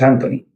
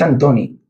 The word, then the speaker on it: Antoni: Vio Anthony y lo pusieron, pero es que no es Anthony, es Antoni.